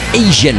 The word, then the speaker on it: AZN: Nous irons également faire un petit tour au AZN prononcé Asian.